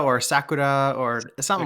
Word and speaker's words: sakura: pronounce the sakura yeah sakura or sakura or something like that you just you want to hit that r sakura yeah that japanese i